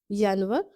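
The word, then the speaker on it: Januar: تلفظ ذرا مختلف ہے۔ ینور، ینور کی آواز وائی کی آواز سے نکالیں گے۔ فیبرور کی آواز حلق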